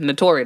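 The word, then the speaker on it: Naturi: Notori, that's how you say her name.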